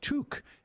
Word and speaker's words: toque: Oh, from toque, pronounced toque, is what Canadians call beanies.